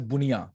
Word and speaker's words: bundia: So bundia in Bihar is bunia, like D is silent.